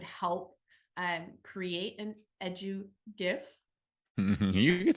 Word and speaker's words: GIF: further in there that it is GIF with a hard G is that research-based that's